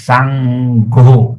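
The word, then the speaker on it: saṅgho: But actually we must pronounce sango because n with a dot on the top is ng. So the word becomes s a n g h o. Sango.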